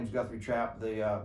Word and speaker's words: Guthrie Trapp: uh my name is guthrie trap the uh the first p is silent and anyway so uh